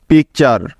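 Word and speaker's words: picture: ভাঙ্গা যাবে না কেননা এই চারটি বর্ণ মিলে একটি ওয়ার্ড প্যাটার্ন তৈরি করে যার উচ্চারণ সবসময় হয় চার তাই না সেজন্য টি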